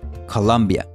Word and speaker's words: Columbia: En inglés, este nombre se escribe de las dos formas, con U y con O, pero siempre se pronuncia exactamente igual: Colombia.